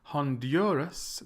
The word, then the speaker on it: Honduras: with the second to Honduras the stresses in the middle and Malaysia the stress